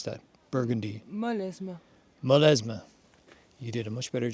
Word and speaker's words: Molesme: How would you pronounce that? Burgundy. Molesme.